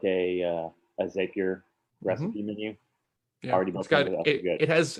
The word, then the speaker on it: Zapier: something on yeah but it rhymes happier with zapier is that the thing